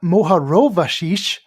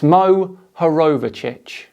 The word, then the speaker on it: Mohorovičić: In 1909, Andrija Mohorovashish, Even when there is a phonetically spelled word, clear for anyone to see, Kyle still gets it wrong. It's Mohorovičić.